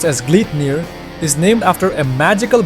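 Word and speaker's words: Gleipnir: The Glyner, pronounced as Gleet near is named after a magical bind from Norse mythology which restrained the legendary wolf Fenrirer.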